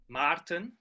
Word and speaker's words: Maarten: It's pronounced Maarten. Maarten, oh, okay, Maarten. But most people who speak English just say Maarten.